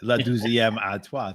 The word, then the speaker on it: La douzième à toi: So Janet says, La douzième à toi is how you pronounce La douzième à toi.